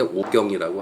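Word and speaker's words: 吴京: 한국에서 이렇게 발음할 때 오경이라고 하죠.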